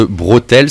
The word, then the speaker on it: Brothels: Dessus on peut retrouver aussi un inédit de Rancid qui s'appelle The Brothels, je prononce bien, c'est pas les bretelles, hein, c'est pas les bretelles, The Brothels, c'est hôtel mais avec un BR devant, ça veut dire les maisons closes, Scal.